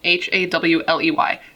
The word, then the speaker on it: Hawley: man named Hawley Crippen, Hawley. I believe it's pronounced Holly.